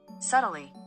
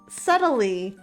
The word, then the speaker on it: subtly: me thank you let's subtly is that really it I'm pretty sure there's no B let me ask Google